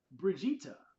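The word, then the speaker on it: Brigitte: It says the Overwatch hero with the most confusing name in the series, Bridget, pronounced Bridge E and rhymes with Vegeta. Brigia. Okay, I get it. Brigitta.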